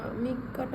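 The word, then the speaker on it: みっか: মিক্কাটা বুঝলাম না। মিক্কা, এই যে মি ছোট সু যদি থাকে তাহলে পরেরটা ডবল উচ্চারণ হচ্ছে, তাহলে মিক্কা।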